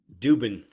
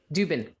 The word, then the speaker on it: Dubin: How do you pronounce it? Dubin. Dubin.